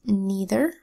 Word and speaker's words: neither: the e I phonogram that was neither all right here where AI makes a long e sound and the phonogram also